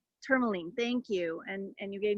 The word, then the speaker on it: tourmaline: But I'm just like, you know, like the rocks, like I said to you, I want some of those tourmite. Am I saying it correctly? Tourmaline, thank you.